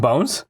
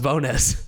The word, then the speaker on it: Bones: tell you say again ricky bonus it wasn't bones no it's pronounced bonus wow i kind of like that more yeah